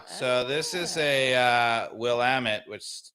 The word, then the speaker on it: Willamette: this is a uh Willamette which which rhymes with damn it from Oregon yeah from